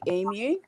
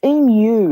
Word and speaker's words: emu: educate these people on how to say emu? Yeah, it's emu. It's not emu. The way you people say it there.